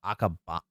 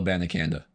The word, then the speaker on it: Abanikanda: I'm about to butcher Israel Akaba. No, Israel Abanikanda. Abanikanda, thank you.